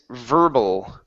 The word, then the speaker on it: verbal: Next one here is verbal. Okay, give me an L sound at the end of the word.